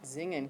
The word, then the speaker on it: singen: Singen. Zingen. Good. Everybody, zingen.